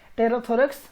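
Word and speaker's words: pterothorax: यहाँ पर पी जो होता है वो साइलेंट रहता है, इसीलिए इसको हम लोग क्या प्रोनाउंस करते हैं, टेरोथोरेक्स पढ़ते हैं।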